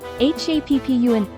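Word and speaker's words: 八分: Replace this with PP, so it becomes PPUN. For Hachi and Ju themselves, do the same processing as the satsu example. Then add PPUN after, becoming HAPPUN 8分 and JUPPUN.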